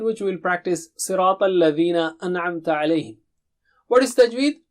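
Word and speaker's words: الذين: Sirata, Sirata, Sirata, Sirata, Sirat al-Ladhina. It is not al-Lazina. You have to put the tip of the tongue to the edge of upper teeth.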